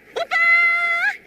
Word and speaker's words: 오빠: 오빠, 오빠, 오빠 ... (오빠 means an older brother, but it's used like a 'young man' here.) Please buy the girl a necklace. Yes, the lady pronounced '빠' in '오빠' very clearly, right?